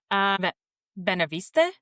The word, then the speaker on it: Beneveniste: Can you pronounce that? Hold on, I'm trying to get to the story. Oh. Okay. Beneveniste?